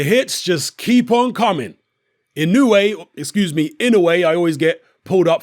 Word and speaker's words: Inoue: Inoue, I always get pulled up for mispronouncing his surname, scores yet another spectacular early